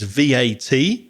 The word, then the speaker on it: VAT: Sometimes they pronounce it as if it were a word.